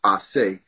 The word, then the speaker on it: Ace: name is, which is A-C-E is the first three letters, which is really supposed to be pronounced Ase.